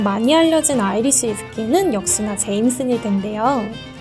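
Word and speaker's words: Jameson: 알려진 아이리시 스킨은 역시나 제임슨이 된데요 사실 아일랜드 식는 제머슨이라고 읽어야 맞는 표현이라고 해요 아 기중 세개 판매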